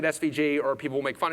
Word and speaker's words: SVG: And then it generates, yes, I know I say asvig, I know I pronounce it svig, everyone else pronounces it svg. It's me, I'm wrong, I can't correct myself, I'm sorry. Keep saying it svg, or people will make